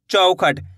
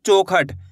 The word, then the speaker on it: चौखट: चौखट औ करके उच्चारण निकालना है। ऐसे नहीं पढ़ना है चौखट। चौखट पढ़ दोगे तो इस तरीके से ओ की मात्रा का उच्चारण हो जाएगा। यहां पे ओ की मात्रा लगी हुई है। चौखट। यहां पे औ की मात्रा है चौखट।